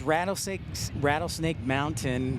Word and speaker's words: Rattlesnake: And you can tell I've lived in Utah too long because I forget to pronounce my T's. It's Rattlesnake Mountain.